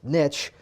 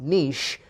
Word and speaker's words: niche: By the way, again, it's niche, not niche, because niche rhymes with rich.